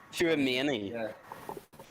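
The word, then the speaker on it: Tchouaméni: how the fuck do you pronounce his name again? Chouameni? Chouameni.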